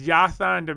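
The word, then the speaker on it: Jasson: man guys he goes there's yasan and so what it's got two s's no right but it's not yeah are you sure right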